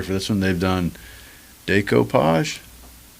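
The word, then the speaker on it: decoupage: They've done decopage. Yeah. Did I say it right? I think it's decopage.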